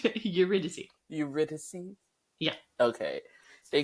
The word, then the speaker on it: Eurydice: Thank you, because I'm still having trouble pronouncing that girl's name. Eurydice.